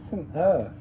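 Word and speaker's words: St Erth: St. Earth. It's spelled E R T H. There's no vowel in it.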